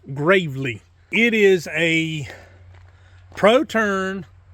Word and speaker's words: Gravely: see right there Gravely it's not it's not pronounced Gravely it's pronounced Gravely it is a Pro turn 452 which means